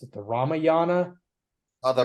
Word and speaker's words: Ramayana: I'm still not entirely sure how to pronounce it. The Ramayana. The Ramayana, you got it.